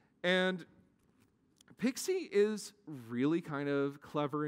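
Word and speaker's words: PKCE: bit of crypto and proof key for code exchange is pronounced pixie because nerds like cute acronyms and pixie is really kind of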